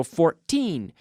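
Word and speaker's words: fourteen: So 14, da-da, emphasis on the second syllable. And 40, emphasis on the first syllable.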